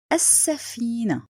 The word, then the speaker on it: السفينة: The last example السفينة. This is also لام شمسية written but not pronounced.